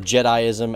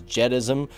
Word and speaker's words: Jediism: I was like wait a minute Leroy you're pronouncing jedism or jediism as jedism it's pronounced jedi-ism now I actually called him